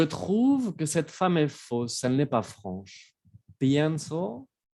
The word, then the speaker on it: fausse: Ensuite, on a faux, fausse. Ahí también cambia mucho la pronunciación en masculino y femenino.